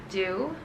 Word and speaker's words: Dix: I'm so sorry, I think it's pronounced Do. but in my head I keep saying Dicks. I'm so sorry. I'm just so used to it. But I think someone's corrected me before it's due, which has a current price of $460.